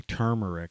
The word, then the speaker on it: turmeric: question i asked is turmeric good for gallstones and you know you pronounce it tomb tomb rick but there's an r in there so it's technically turmeric i guess but it's